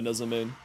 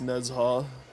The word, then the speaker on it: Nezha: nezam I am a nezam sorry Neza I'm trying to get the pronunciation properly because like I'm bad with pronunciations I know it's not technically Neza it's nezha but you know whatever